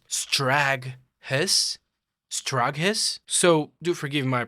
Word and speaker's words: Straghess: Now I'm seeing here it's supposed to be pronounced Straghess.